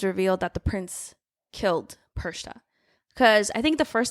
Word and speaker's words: Perchta: It's not Perchata. Is it even spelled like that? Hold on. How do you spell that? Perchata. Perchta. Oh, it is I said Perchta. It's Perchata in my heart. No, it's Perchta.